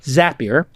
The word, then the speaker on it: Zapier: to figure out this little company known as zapier which makes you happier tim ferriss mispronounced it